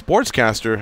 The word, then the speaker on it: Sportscastr: So it's Sportscaster. However, let me spell it out for you.